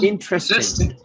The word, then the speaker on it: interesting: শুধু এটা উচ্চারণ করলেই হবে, ট্রেস্টিং। তাহলে ইন্টারেস্টিং বলেন, ইন্টারেস্টিং। এখন একটু লাল করেছি কেন? ওটাতে চাপ জোর হবে, স্ট্রেস হবে। বলেন ইন্টারেস্টিং বলেন।